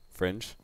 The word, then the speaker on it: Fringe: Fringe. Just really. Like the English word fringe.